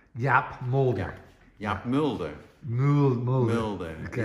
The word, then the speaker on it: Mulder: Mulder. Okay. It's, same as Fox Mulder from the X-Files.